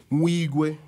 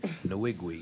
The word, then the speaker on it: Nwigwe: Tobe Mwigwe. Did I say that right? Yeah, no doubt. Unless you want to pronounce it like my Caucasian counterparts who say Nwigwe. Nwigwe. Either way, it works.